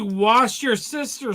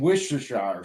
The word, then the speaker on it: Worcestershire: If I say wash your sister sauce, Damn, Tane, that's a hell of a You mean Worcestershire sauce?